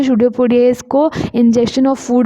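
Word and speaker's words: pseudopodia: यहाँ पे P silent है इसीलिए इसका प्रोनाउंसिएशन होता है शूडोपोडिया।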